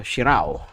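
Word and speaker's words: Shirauo: um gangan ship the shirai Shiro shirui am I pronouncing it right uh uh what's that uh shirao okay there go um I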